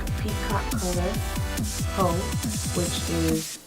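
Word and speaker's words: Haux: Faux, which is spelled H-A-U-X, and it's actually a nice mauve color, great for transitioning.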